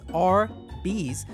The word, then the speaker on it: Arby's: all across america for their roast beef sandwiches arby's pronounced as r bees does not actually stand for roast beef ironically